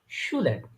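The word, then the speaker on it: Schüler: এস সে হা যদি কোথাও একসাথে দেখেন এটা সবসময় স উচ্চারণ হবে। তালবস্য যেটা আমরা বাংলাতে বলি ওটার মতো উচ্চারণ হবে। যেমন শুলার, শু, শুলার, শুলার।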